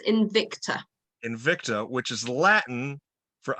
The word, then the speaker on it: Invicta: Help me with the pronunciation of the title of the album. It's Invicta.